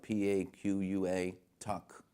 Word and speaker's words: Paquatuck: It's spelled P-A-Q-U-A, Tuck, Paquatuck.